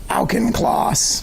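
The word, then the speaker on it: Auchincloss: And uh at the top of this page, you sent this email to Hugh Alen Clauss.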